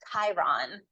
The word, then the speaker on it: Chiron: last one that I would look at is Chiron Chiron is spelled c h i r o n Chiron